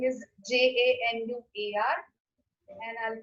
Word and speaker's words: Januar: So first is January, and the spelling is Januar, and I'll pronounce it as Januar.